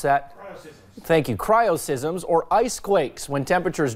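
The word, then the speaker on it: cryoseism: causes are Christ's so miss Brandon how you pronounce that thank you cryo sysm Zoar ice quakes when temperatures drop to 20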